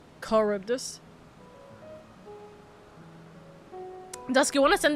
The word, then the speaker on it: Charybdis: You don't pronounce the C. Charybdis.